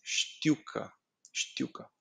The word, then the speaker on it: știucă: You pronounce it like this. Știucă, știucă. It's very fast going out of your tongue.